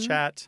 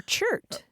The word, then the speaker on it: chert: matter on the ground, or sometimes called chat. Or chert. Or chert, yeah. C-H-E-R-T. Or chit. Or chit. Chert is a particular kind of stone, though. But there are a variety of spellings and pronunciations. They're all very similar with that CH and that T.